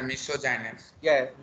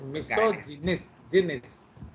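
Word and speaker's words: misogynist: तो हेट मिसोजाइनिस्ट, मिसोजाइनिस्ट नहीं, again that is मिसोजिनिस्ट। तो देख रहे हो, मिसोजिनिस्ट।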